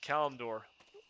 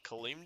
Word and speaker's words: Kalimdor: pronunciations of this game I like calendar no like it's cut it's however they pronounce it like kalimdor you're like no you're still wrong I'm like calandora clean door they're like get the